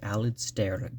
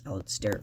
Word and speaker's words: Alasdair: So, Poor Things by Alasdair Gray. I think it's Alasdair Gray. Temptation to just say Alasdair, but it's actually spelled with a D in there.